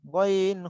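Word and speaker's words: غين: গইনটা উচ্চারণ হবে বাংলায় গ, এই যে গ রয়েছে না, গ, এই গর মতো, গ গি গু, গ গি গু।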